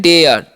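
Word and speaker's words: dare: Next है डेयर, ठीक है। यहाँ पर इसे क्या पढ़ेंगे हम? डेयर, क्योंकि सेम उच्चारण सभी में रूल लागू होगा, ठीक है।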